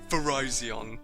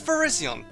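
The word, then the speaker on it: Virizion: no okay come on there is no way this Pokémon is pronounced Verizon come on no it's Verizion there is absolutely no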